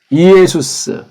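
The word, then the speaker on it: Ἰησοῦς: 예수스. 이렇게 발음하는 게 오리지널이에요.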